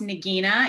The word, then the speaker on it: Nagina: my name is pronounced Nagina it's g like girl and and then also